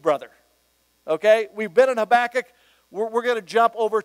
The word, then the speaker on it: Habakkuk: Did you enjoy the study of an Old Testament book like Habakkuk?